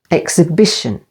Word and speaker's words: exhibition: second syllable exhausting exhibition or watch out with this one the stress is on the third syllable exhibition and Exhilarate with the main